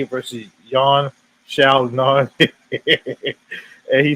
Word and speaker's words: Yan Xiaonan: According to Chris, he said this is well deserved, and it's pronounced John Wei Li versus Yan Xiaonan.